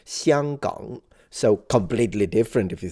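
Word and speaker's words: 香港: I can't pronounce Cantonese, but in Mandarin it would be pronounced Xianggang.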